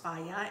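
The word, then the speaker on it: Fage: time what's my favorite faya um f-a-g-e is my favorite um it's pronounced via and really delicious and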